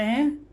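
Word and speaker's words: who: वैसे ही chlorine, chemical, ठीक है, मैकेनिक, टेक, ठीक है, वाई, वेयर, वेन।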